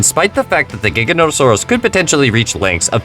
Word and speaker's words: Giganotosaurus: The name Giganotosaurus has nothing to do with the word gigantic. Giganotosaurus is Greek for giant southern lizard, not gigantic lizard as it's often mistranslated and mispronounced.